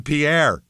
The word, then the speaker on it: Pierre: Pier, South Dakota is how they say it here.